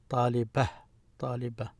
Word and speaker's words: طالبة: So when you stop at it and it's not connected to anything, we just pronounce it as ha. طالبة.